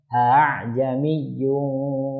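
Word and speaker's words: ءَاعْجَمِيٌّ: Jadi dibacanya a'jamiyyun wa 'arabi. Hamzah yang pertama jelas a, tapi yang kedua dibaca tashil ringan.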